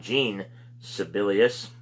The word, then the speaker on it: Jean Sibelius: Von Schlegel, that's S-C-H-L-E-G-E-L, I'm not sure how you pronounce that, and then John Sibelius, S-I-B-E-L-I-U-S, or Jean, I should say, not John, Jean Sibelius.